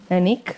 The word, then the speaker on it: Heinich: She told me about the right pronunciation today. Anique like Munich uh whose contributions have